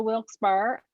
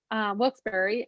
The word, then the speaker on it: Wilkes-Barre: first day we're going to head up to wilkes bar wilkes barre and penny how do you say wilkes berry well some people say and some say wilkes-barre